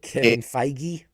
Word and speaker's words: Kevin Feige: Kevin Feige.